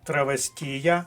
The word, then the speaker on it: травестія: горілку і заїдає оселеццями так от травесьія має наголос на третьому складі висока вірогідність що варіант